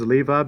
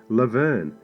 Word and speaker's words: LeVar: LeVar Burton's name was mispronounced by the director countless times, and the director was heard calling him Laverne a number of times.